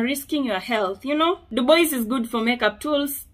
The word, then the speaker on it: Dubois: I know it's pronounced as Dubois, but I got no time and energy for that. I'm used to Dubois.